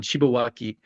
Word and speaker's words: Shibawaki: That's the easiest way to say his name. It's what we call him, is Shiba-san. Shibawaki is his real name.